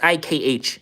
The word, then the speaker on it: Sikh: Well, it's Sikh. It looks like Sikh, but it's pronounced Sikh.